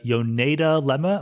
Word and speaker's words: Yoneda lemma: you bring up um this thing called the yoneda lemma am i pronouncing it correctly yes exactly and it's very